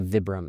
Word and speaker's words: Vibram: a name or like a brand that nobody pronounces correctly and I I've called it Vibram for like I don't know 30 years and then I met somebody who worked for them. They're like it's actually Vibram and I was like